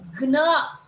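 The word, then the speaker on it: ग्न: Ga is pronounced as ig. See, how will you pronounce this? Gna. This is only this. Ig plus na. Gna.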